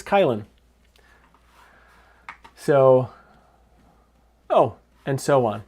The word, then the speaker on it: Kylin: So atu andu kylin or chillin I don't know how it's supposed to be pronounced because it's a k and a y it's kylin.